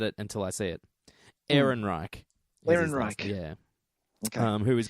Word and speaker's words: Ehrenreich: Alden Ehrenreich, but I always forget it until I see it. Ehrenreich.